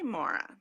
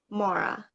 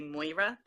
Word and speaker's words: Moira: And then other rhymes with Laura is sort of the guide, but people say Laura so differently.